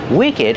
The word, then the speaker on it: wicked: Wicked has a short sound too. And we pronounce the ed d like together.